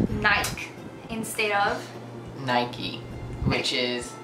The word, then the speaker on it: Nike: In South Africa, we would say Nike instead of Nike. Which is the shoes, the athletic wear, just do it. They pronounce it Nike.